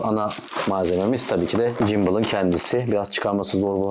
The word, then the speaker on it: gimbal: jimble hakkında Bu arada jimble diyorum tuhafıma geliyor bundan bir saat öncesine kadar ben gimal diye okunuyor zannediyordum biraz da açtıktan sonra jimble oku olduğunu fark ettim şu an biraz yabancıyım